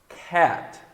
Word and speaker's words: cat: Abre a boca como se você fosse falar A, só que você fala é. E como exemplo temos cat, cat, Kate, cat. Isso é importante, tá? Não é frescura, não. Desce o queixo para fazer o som. Cat.